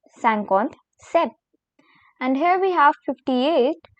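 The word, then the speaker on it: cinquante-sept: as sancon sees now comes 57 which is pronounced as sankhonth sept sankot said and here we have 58 which is called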